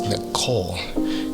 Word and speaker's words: Nicole: Now, the thing about Nicole is the E at the end of Nicole is silent. That's the point. It's Nicole. Without the E, the silent E, I think the name would be called call or something like that.